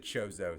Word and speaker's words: Chozo: I pronounce it Chozo, son of a bitch.